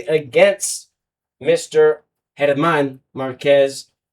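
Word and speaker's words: Germán: German, it's German, but it's German.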